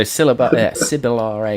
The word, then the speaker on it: Sibillare: I don't know how you wanted to pronounce that, Danny, but I've gone Sibillare. Well, I pronounce all of your stuff wrong, so you say it however you want. There we go. DM makes the call. So Sibillare it is.